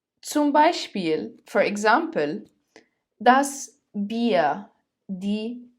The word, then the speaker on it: Bier: It is pronounced as I. Zum Beispiel, for example, das Bier, die Biere, das Bier, die Biere.